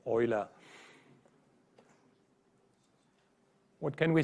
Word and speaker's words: Euler: because he was which he is pronounced not like it would pronounce Europe EULA he really is pronounced Euler what can we say